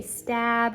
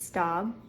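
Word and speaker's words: Staub: always pronounce it wrong everyone would always say stab or stab but it's stop it's German why I also didn't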